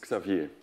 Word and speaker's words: Xavier: My mom says Xavier. Xavier. So it's the French pronunciation, but it's fine.